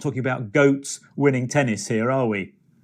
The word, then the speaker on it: GOAT: of all time yes so goat is spelt g-o-a-t and it is an acronym which stands for greatest of all time but we say goat okay and just to